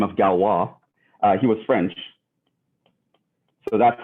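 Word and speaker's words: Galois: written uh you know the french they don't care about uh how letters sound they just like i feel like i want to put an ois here and pronounce that as wah um but that was his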